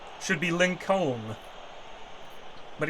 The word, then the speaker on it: Lincoln: make any sense shouldn't be Southern I mean Lincoln should be Lincoln but it's not it's got a silent L